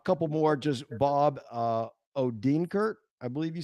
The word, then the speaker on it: Odenkirk: Odenkirk.